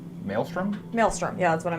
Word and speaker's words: Maelstrom: to cast and I don't know how to pronounce this mail storm Maelstrom Maelstrom yeah that's what I meant okay storm